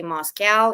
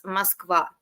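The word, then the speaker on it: Москва: My pet peeve is when people say Moscow, even though I know in German that's how it's pronounced, but actually like it's Moskva. It's not even Moscow, Moscow. It's Moskva. Mhm.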